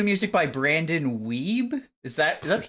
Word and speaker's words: Wiebe: 2 music by Brandon Weeb. That's not how you say that. Wiebe apparently. Go in the Weeby. box. It's actually Weeby. Weeby. Oh my god, thank you, thank you. What a weeb.